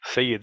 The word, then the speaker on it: Syed: one thing my name some people say Saeed say it my name is s-y-e-d say you'd say it like say it like if you just say it you know like but they replace the T with the D so say it is